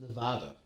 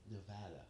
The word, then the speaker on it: Nevada: As I've been scolded, mind you, by the government of Nevada for pronouncing the name of their state incorrectly. It's not Nevada. It's Nevada.